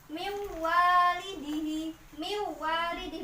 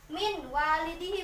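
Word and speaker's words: من والده: Jadi membacanya mim walidihi, bukan min walidihi, bukan mim walidihi.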